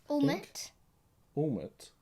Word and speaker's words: Ouimet: Ouimet.